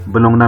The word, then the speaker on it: Bologna: University है, university of बोलोनिया। कुछ लोग इसे यूनिवर्सिटी ऑफ बोलोंगना भी प्रोनाउंस करते हैं।